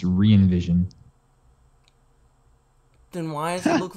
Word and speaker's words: Re:Evision: called i'm pisces and you said envision it's reinvision then why does it